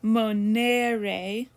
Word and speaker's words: monere: the infinitive i'm sorry the first e of the infinitive is a long e in the second conjugation and a short in the third okay study the present